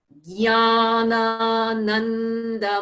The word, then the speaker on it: Jnanananda: So just to be clear on that, J is silent, right? It's just a nya.